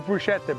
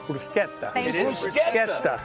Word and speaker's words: bruschetta: Everybody says bruschetta, but it's bruseta. Not bruschetta.